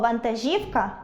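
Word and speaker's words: вантажівка: Тому у слові ви́падок - наголос на першому складі, а у слові вантажі́вка — на третьому.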